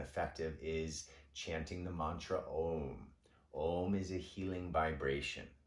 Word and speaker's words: Om: of yoga state that if we do a long o half of the exhalation is o and the second half